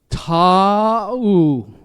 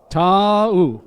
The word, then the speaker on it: Taumoepeau: Each vowel sounded and said separately. So, Taumoepeau. Right? Taumoepeau. One more time. Taumoepeau.